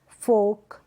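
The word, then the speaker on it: folk: ये जो स्पेलिंग्स है, ये जो एग्जाम्पल्स है, यहाँ पर एल साइलेंट है, ठीक है, क्योंकि ए ओ यू वोवल्स के बाद में क्या आ रहा है, एल आ रहा है, इसलिए।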